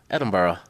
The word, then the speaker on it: Edinburgh: guess that's how it's not spelled phonetically no but that's how you learn how to speak in their accent though cuz you say yeah when you say it like that it's uh Edinburgh Edinburgh yeah um yeah it totally looks like Edinburg um but that that